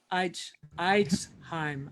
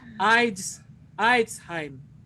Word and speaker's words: Eidsheim: Eidsheim. I said it right. Eidsheim.